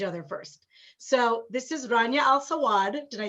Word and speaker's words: Rania Al Sawad: So this is Rania Al Sawad.